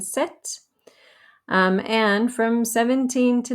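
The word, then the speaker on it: sept: what 17 boxes again we don't pronounce the p in set um and from 17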